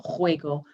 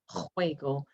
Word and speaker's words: juego: And remember, pronunciation for juego is right from the back of the throat, juego. We never say juego.